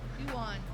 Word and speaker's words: yuan: Yuan, I hear.